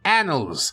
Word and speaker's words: annals: be etched into the annals of neckbeard lore. Yeah, make sure you pronounce the second N in annals for sure.